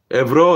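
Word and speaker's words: ευρώ: say give me ana ebro that's how you say euro in greek ebro and two completely different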